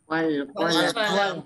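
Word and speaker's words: والقلم: Sekarang kalau di depannya ada wawu, bacanya gimana? Wal qalam. Al-qalamu. Wal qalam. Alifnya dibaca enggak? Tidak.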